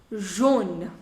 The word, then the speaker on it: jaune: Now the pronunciation. Jaune, jaune, jaune et jaune. All four of them, the pronunciation is same.